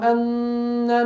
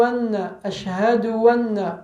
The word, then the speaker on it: anna: Il faut bien prononcer le hamza de anna dans la deuxième attestation de foi en disant Ashhadu anna Muhammad. Et non pas Ashhadu anna. Ça se transforme en waw.